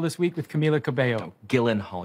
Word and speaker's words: Gyllenhaal: week with camila cabello gyllenhaal your name is pronounced guildenhall i guarantee you it is not four female ghostbusters the